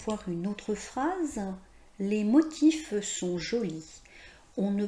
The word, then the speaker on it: motif: que dans le mot motif, vous voyez qu'on prononce le F, le son F, la consonne finale F. Même si c'est une consonne, dans ce cadre, on va prononcer motif.